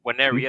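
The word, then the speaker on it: Nwaneri: and how do you pronounce his name? Waneri, innit? Yeah.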